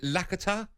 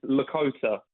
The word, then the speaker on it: Lakota: You're an Arsenal fan, and I think it's pronounced Is it Lakata? Lakta? Sorry. Afternoon, guys. No, not a problem. It's Lakota.